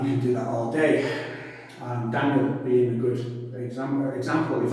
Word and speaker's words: Daniel: So my name, D-A-N-I-E-L, Daniel. But how I pronounce it with my accent, Daniel. It's almost like it was Y-U-L, D-A-N-U-L, Daniel.